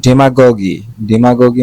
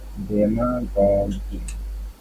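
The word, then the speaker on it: demagogue: Then ডেমাগগি। ডেমাগগি মানে হলো উস্কানিমূলক জনতা। ঠিক আছে? ডেমাগগি। আচ্ছা, এটা উচ্চারণটা আমরা একটু ভালোভাবে জেনে নিব। যদি আমি এটাই জানি ডেমাগগি।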